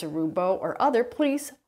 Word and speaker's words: Roubo: tool that is is the rubo saw that's spelled r o u b o and uh we made